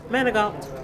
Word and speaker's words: Manag: Everybody pronounces it different cuz I pronounce mine manag all depends. So what's the right way? Manag.